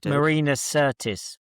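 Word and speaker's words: Marina Sirtis: I Marina Certis. You're doing well with your pronunciations this weekend.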